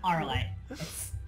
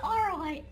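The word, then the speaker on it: Auralite: Arlite. Alexa Arlite? Alexa Arlite. How do you spell that?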